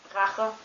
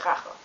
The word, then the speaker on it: Rache: And, but it can also be pronounced as it's kind of like the sound you make when you pull up snot before you spit it out.